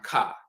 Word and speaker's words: Ka: hieroglyph for the term Ka now it can be spelled with the bowl which is the cut sound and the uh eagle with the ah sound but then you'll also